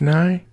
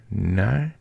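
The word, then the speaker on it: Nighy: I guess it's Nye. N-I-G-H-Y. Nye.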